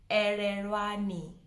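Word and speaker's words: Elelwani: The L's are coming into play. Ererwani. Ererwani. So it doesn't have R's. Please don't put R's anyway. I know a lot of you guys are tempted to put the R. There's no R anyway. It's Ererwani.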